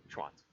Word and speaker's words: Schwantz: Schwantz. Schwantz. It's kind of a quiet, rapid delivery. Schwantz.